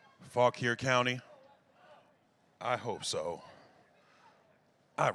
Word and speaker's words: Fauquier: Fauquier County?